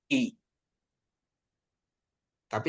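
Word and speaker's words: ήτα: jadi berarti ini jadi bacanya ita bukan theta ya ita ya ya iota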